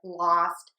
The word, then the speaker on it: lost: Most people would think that it is pronounced with this ah, and we do have that in very common words like lost and cost, but you can have the exceptions and you can have the long O in moʊst, hoʊst, poʊst, and goʊst.